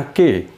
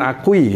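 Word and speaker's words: aquí: Ini bacanya aki. U-nya ini tidak terucap. Jadi aki gitu ya. Artinya di sini, bukan akui gitu. Bukan akui, aki.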